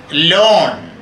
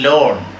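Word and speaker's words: Laugharne: The Thomases, the man and wife, settled in Lawn, L-A-U-G-H-A-R-N, it is pronounced as Lawn, a picturesque little seaside town.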